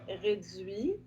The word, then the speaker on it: réduit: Vous remarquez qu'on ne prononce pas le T, réduit.